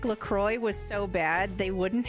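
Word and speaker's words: LaCroix: If carbonated water like Lacroy was so bad, they wouldn't have actually put alcohol in it too, right?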